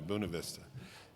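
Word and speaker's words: Buena Vista: buav Vista said it right too didn't I buav Vista and um the only thing I can tell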